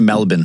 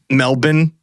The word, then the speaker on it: Melbourne: they would have passed through a number of pronounced Melbourne actually Melbourne Melbourne they'll make fun of you if you